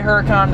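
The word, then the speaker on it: Huracán: Lamborghini Huracan for example I'm gonna say Huracan I live in America I don't do these all the Italian pronunciation so if you were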